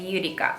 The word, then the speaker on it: Yurika: just like okay just it's eureka like eureka i found it so you can call